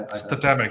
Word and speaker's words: Statamic: know how to pronounce it I've heard people pronounce it as systemic like I statamic yeah yeah statamic St St I don't know